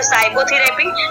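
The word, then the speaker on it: psychotherapy: उसके next example देखते हैं, एस से पहले पी आया इसमें तो इसको हम पढ़ेंगे साइकोथेरेपी, ठीक है।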